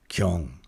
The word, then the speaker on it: 경: to my ear, the this initial G sound in Korean actually sounds much closer to a C sound, but it's not it's not aspirated or it's not aspirated very much.